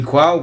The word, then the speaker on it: qual: E na palavra qual? Em qual o QU não é dígrafo, porque eu pronuncio U.